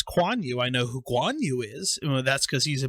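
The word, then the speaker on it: Guan Yu: this this show and it has for instance kwan you which is spelled it actually spells it phonetically which makes it a lot easier to say it's spelled k-u-a-n-y-u and when i first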